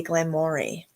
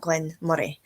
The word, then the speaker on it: Glen Moray: as well surely because everybody must look at that and say Glenn Mory and not Glenn muray because that's a very